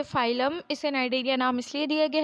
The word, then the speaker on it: Cnidaria: Phylum नाइडेरिया, इसे नाइडेरिया पढ़ते हैं, सी इसमें साइलेंट होता है।